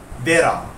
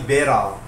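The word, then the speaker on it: Wera: So dia ada Allen key vera. Ha kalau ejaan dia W E R A Vera. Dia jenama Jerman tapi kalau tak silap aku sebutan dia Bera.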